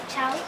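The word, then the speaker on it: chaw: Chow a bit. Yes, that's our next word. C-H-A-W. The A-W in our language sounds like ow.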